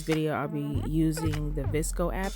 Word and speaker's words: VSCO: For this video I'll be using the Visco app. It's spelled VSCO.